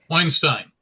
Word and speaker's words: Weinstein: And I'm pleased to introduce Weinstein who Did I pronounce that right? Weinstein.